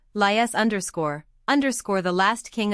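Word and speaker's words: Laius: A IU S underscore pronounced as three syllables. Lias underscore underscore the last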